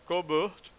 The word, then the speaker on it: Colbert: Não sei se pronunciava assim, já que é francês, deve se pronunciar Colbert, né?